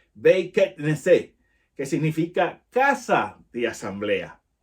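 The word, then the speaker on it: בית כנסת: Y en hebreo, esta palabra sinagoga se dice Beit Knesset, perdón, la pronunciación, Beit Knesset, que significa casa de asamblea.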